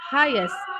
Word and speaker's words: highest: So it's not hike or highest but highest just like when you pronounce highlight highlight uh or highlighter something like that.